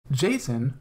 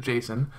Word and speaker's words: JSON: Jason or Json depending on who you ask however the creator of Json pronounces it Json stands for JavaScript object